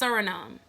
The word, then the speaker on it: Suriname: Brazil Colombia Ecuador French Guiana I think it's pronounced Suriname all these places they had indigenous Mellon any